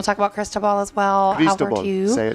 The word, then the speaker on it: Cristobal: Cristobal.